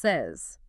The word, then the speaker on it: says: You'd expect it to rhyme with pays, but it doesn't. The vowel sound changes completely. And that s at the end sounds like z. Emma compares it to the candy pez. It's pronounced says says.